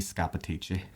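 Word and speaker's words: Scappaticci: It's Scanacci. The correct pronunciation was Freddie Scapatici.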